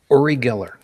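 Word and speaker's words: Uri Geller: zero is a travesty we've got and I'll pronounce it properly Orie Geller oh we've got um oh Jesus the Long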